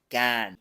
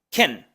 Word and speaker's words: can: que muchos pueden pensar no se pronuncia can can ni Ken ni nada por el estilo en un discurso cotidiano se pronuncia con una k y enseguida la shua Ken que algunos puede abrumar